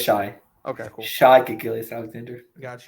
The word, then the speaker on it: Shai: Is he Shy or is he Shea? It depends how you pronounce it. Okay, but to get it right. Sorry, is it Shy or Shea? I think it's Shai.